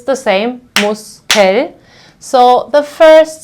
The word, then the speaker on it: Muskel: So the first syllable ends on S, so I will pronounce it as a sharp S.